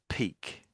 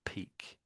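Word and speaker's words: pique: So it's that's peak. Believe it or not, peak.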